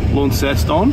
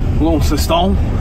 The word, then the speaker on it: Launceston: We're going to Launceston, I believe it's pronounced. Launceston.